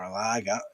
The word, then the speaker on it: Lage: 2, Wolves 0, and we now know Bruno Lage, or Laga, depending on how you want to pronounce it, has been shown the door.